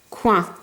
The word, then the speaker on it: coin: Ici, juste après le C, je regarde, est-ce qu'il y a un I, un E ou un Y? Non. Donc c'est pour ça que ma lettre C se prononce que.